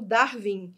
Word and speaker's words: Darwin: Nomes de pessoas, já coloquei aqui para vocês, estrangeiros como Darwin. Reparem que o W aqui, ó, é pronunciado com U, tá bom?